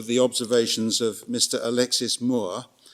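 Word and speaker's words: Mourre: observations of Mr Alexis Moore which I think is how you pronounce it m o u re e he's the president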